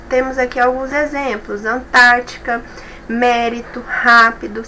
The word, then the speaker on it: mérito: Mesma forma, mérito, a de trás para frente é a terceira, ou seja, a antepenúltima é a mais forte.